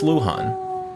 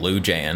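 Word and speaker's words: Luján: Oh, it's pronounced Luhan. I've been saying Lou Jan.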